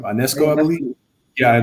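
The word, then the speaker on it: Ionescu: The way Sabrina, how do you pronounce her last name? Ionesco, I believe. Yeah, Ionesco.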